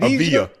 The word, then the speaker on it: Avdija: Uh Deni? Avdija? Avdija. Say it right? Avdija? Avdija. Oh, Avdija. Oh, so the D silent?